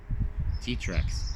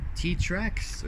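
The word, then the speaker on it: Xtrac: the seven speed trim t-tracks it has a seven speed t-track so it's spelled t well no it's hard enough I spelled x-t-r-a-c t I call it t-tracks us there's two versions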